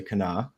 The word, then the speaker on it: Kanawha: Charleston um on the Kanawha River it's spelled kanawa but you say Cana for those uh West